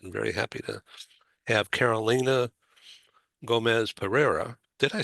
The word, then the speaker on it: Carolina Gomez Pereira: I'm very happy to have Carolina Gomez Pereira.